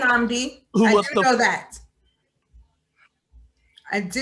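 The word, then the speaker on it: Nnamdi: is in real life his first name is pronounced namdi who know that i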